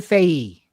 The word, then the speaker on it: Fahey: Yeah, Megan Faye. Wow. Okay. Yeah, that's what I was assuming. Megan Yeah. Faye. There you go. Fahey. Like Fahey, but silent H. Faye.